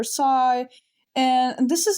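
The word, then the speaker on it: psi: Do I pronounce the p? No. So I'm going to call it s. If you hand me a sigh in principle, I would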